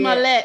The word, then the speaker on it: Smollett: Smollett. I don't know how to pronounce names good.